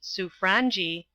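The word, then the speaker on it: Sobranje: or Radiavitch, as it should be sounded, the foreign secretary, on what the Sobrangi, it is pronounced Sufrangi, would be likely to do.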